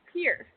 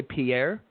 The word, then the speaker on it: Pierre: It's Pier. Just one syllable, Pier. Oh, it's Pier, like yeah. Pier. Yep. Okay. See, I was gonna say Pierre, and I didn't want to You're not the first.